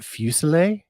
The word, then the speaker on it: Fuselier: i am pleased to introduce my guest fusilla yes hey you got it i got it yeah everybody mispronounces my name so i try to get